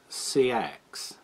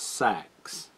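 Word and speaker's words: seax: pronounced two different ways in old english this is pronounced sea axe uh in old norse this is pronounced sax sax but we're most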